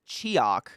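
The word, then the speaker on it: Tsioque: how to pronounce it it's t-s-i-o-q-u-e like Seahawk anyone know this game I think this is a point-and-click this might be decent I don't know I can't remember I don't dude I think it's just like a really weird point-and-click oh it's pronounced chiak chiak wow we're really reaching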